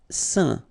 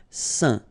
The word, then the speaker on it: saint: Saint. Okay, combination of A, I, N, phonetically will give you this un pronunciation. Saint.